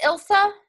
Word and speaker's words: Ilsa: also did you call is it Ilsa did I say it right yes start it you don't